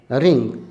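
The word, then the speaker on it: wring: मरोड़ना, मरोड़ना, रिंग, रिंग, मरोड़ना, रिंग। W यहाँ silent होता है।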